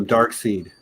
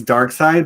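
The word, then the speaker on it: Darkseid: you said um because you called a dark seed you you read that name many many many times before you ever heard it pronounced out loud yeah in general i think it's dark side but i think i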